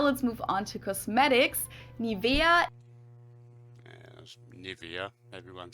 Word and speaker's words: Nivea: pronunciation pretty funny here English native speakers usually say Nivea Nivea in German we say Nivea Nivea so the emphasis is on the E Mi via but yeah